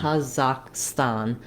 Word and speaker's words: Kazakhstan: but that's English how as far as I can tell in kazak and in Russian um you have the same aah sound you're not going to hear that if if you're saying it asan kazak kazakstan they're going to have that a vowel all the way through it's also going to